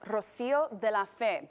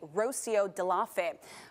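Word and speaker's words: Rocío de la Fe: In my case, my name is pronounced Rocio de la Fe, but without any accents, it would be Rocio de la Fe.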